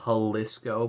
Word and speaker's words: Jalisco: highly highly recommend um Plaza halisco but it's spelled Jalisco um so it's Plaza